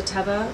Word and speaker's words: Teva: easily this particular model it's a Teva or ativa depending on how you pronounce it has a lot